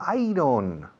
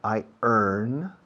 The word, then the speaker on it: iron: Ah, iron. No, iron, no. Iron. ¿Cómo? Iron. Yo, como si dijeras, yo gano. I earn. Acentuando I. Iron.